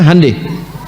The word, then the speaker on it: Hyundai: Honda mereka bikin Handai Hyundai itu dibacanya Handai ya jadi Selalu Begitu